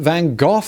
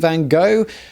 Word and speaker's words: Van Gogh: In the UK, we pronounce this man as Vincent Van Gogh, not Vincent Van Gogh. I'm going with the British pronunciation throughout.